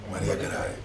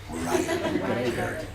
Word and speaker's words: Mariah Carey: How do you say Mariah Carey? Maria, what is it? Maria Caray. Mariah Carey.